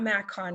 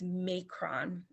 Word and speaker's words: macron: really brief and then it's not mac on it's macron and i looked it